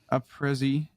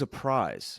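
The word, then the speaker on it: Aprizzy: the boys, Morbid and a Prizzy, and so it'll be fun. And that's nice really how you say his name? Yeah, that's actually how you say it. I always thought it was a prize.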